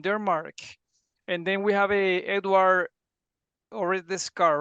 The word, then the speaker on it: Osredkar: And then we have Edward Osredkar, right? Did I pronounce it?